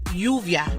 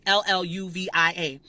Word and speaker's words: lluvia: But the word lluvia, right? L-L-U-V-I-A. That Y sound, U-V-I-A. So it's lluvia. Pero a veces decimos lluvia. Or sometimes you'll say llevar.